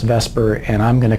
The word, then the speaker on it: VSEPR: stands for valence shell electron pair repulsion theorials pronounced Vesper and I'm going to call it Vesper from